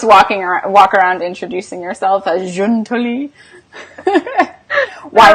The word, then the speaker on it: Giutoli: So it's Giutoli, like Okay. the month June. Giutoli. Giutoli. Now, if you're in Italy, it's Giuntoli, but we're not. So you don't just walk around introducing yourself as Giutoli?